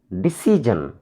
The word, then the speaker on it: decision: Decision. D, first syllable. C, second syllable. Sun, jan, third syllable.